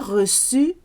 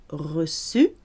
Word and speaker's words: reçu: participle reçu and déçu, if your letter E doesn't have an accent on it and it comes at the end of a syllable, or even if it's a very short word and it ends in E, it's pronounced E, like it's horrible, de, like reçu. If it's at the end of a syllable, reçu.